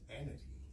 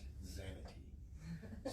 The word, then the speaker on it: Xanity: It's Xanity, not Xanity.